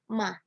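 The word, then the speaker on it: 妈: Yang nada pertama itu bacanya datar, ma, artinya ibu.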